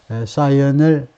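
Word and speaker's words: scion: 어떻게 된 거니 사이라고 발음하고 이것은 아주 독특한 단어인데요 사이언 뭐라고 그래야 되느냐 명문가의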